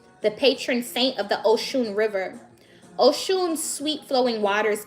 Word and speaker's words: Oshun: Oshun, pronounced Oshun, is the mother of the Nigerian Yoruba people, and her name means the source.